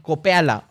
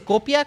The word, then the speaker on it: copia: spamear la palabra copea no se dice así se dice copia copia esto copia aquello no es copea la neta no no